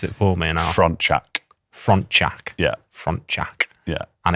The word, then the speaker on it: Frontczak: Your second name, can you pronounce it for me? And Frontczak.